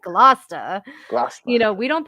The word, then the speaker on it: Gloucester: like what the what the hell is a glow chester like it's gloucester you know we don't pronounce anything correctly out here so i'm constantly